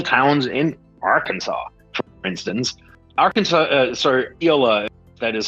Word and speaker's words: Iola: Iola, that is how you pronounce it, is home to a company called Big River Steel, and that's a good old-fashioned steel factory.